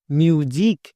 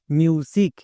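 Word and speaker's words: music: তাহলে কি হলো এম ইউ এস আই সি মিউজিক আমরা যদি এই নিয়মটা না জানতাম তাহলে এই ওয়ার্ডটার উচ্চারণ করতাম মিউজিক আমাদের উচ্চারণ একদম ভুল হতো তাই নিয়ম জেনে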